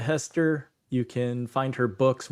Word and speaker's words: Hester: Hester is spelled the way it sounds.